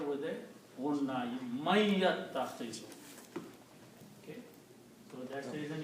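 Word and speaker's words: مَن يَتَّخِذُ: Man yattakhizu, he who takes. Okay. And also, this is a noon and this is a ya. So you pronounce these together with a unna. Man yattakhizu.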